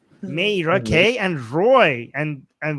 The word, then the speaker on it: Meira: How do I pronounce it? Mera. Mera. Mera. Meerra. Meerra. Meerra. Meera.